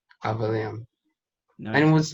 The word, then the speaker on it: Avaleum: say it so people learn it's like it's avaliam avalium yeah yeah it's like it it's one of